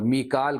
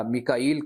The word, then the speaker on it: میکائیل: جبریل اور جبریل کا، اور میکال کا، میکائیل کہہ لیجئے، میکال، یہ تمام تلفظ استعمال ہوتے ہیں۔ فإن اللہ عدو للکافرین،